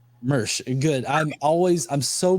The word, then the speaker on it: Mirsch: discussion with uh is your last name pronounced merch correct merch good I'm always I'm so bad at pronouncing